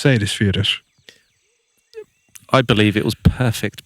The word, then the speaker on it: Seyðisfjörður: And I don't know if you got that pronunciation, but it's Seyðisfjörður.